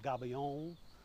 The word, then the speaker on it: gabion: And the people at Adobe will tell you I like to pronounce it gabion, like the French, because that's where it comes from.